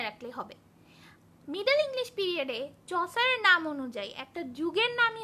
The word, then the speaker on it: Chaucer: Father of English poetry নাম হচ্ছে চসার, CH, এর উচ্চারণ কিন্তু আসলে H। তা যাই হোক, এটা যেহেতু উচ্চারণের ক্লাস না, আমাদের অত দরকার নেই, জেনে রাখি এর উচ্চারণটা হচ্ছে H।